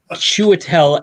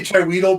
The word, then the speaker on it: Chiwetel: Chiwetel Ejiofor. Chiwetel Ejiofor, yes. I always say Chiweedle because it's how you spell it.